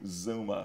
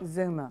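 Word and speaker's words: Xooma: looks strange on there x 0 0 m a x o o m a so how you pronounce that zuma zuma yeah zuma worldwide worldwide okay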